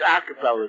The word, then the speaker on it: a cappella: You just said it again, A Cappella. It's A Cappella Dreams. Oh, I see. The A is short.